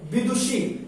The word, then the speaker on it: विदुषी: ठीक है मित्रों, विदुषी में देखिए मित्रों, बड़ी ई की मात्रा बी में लगा हुआ है, विदुषी, लेकिन इसका जो शुद्ध उच्चारण होता है वो होता है क्या? विदुषी।